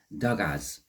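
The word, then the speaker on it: Dagaz: there it is uh it's pronounced dgas okay and for the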